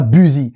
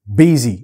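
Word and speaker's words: busy: c'est quoi ça non c'est pas bu c'est buy et oui voilà je sais pas pourquoi là le prononce demande pas une fois de plus on dit buy tiens tu veux dire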